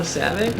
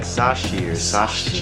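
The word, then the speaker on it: Savcic: how to pronounce it no Savvy no it's like sashier oh God and then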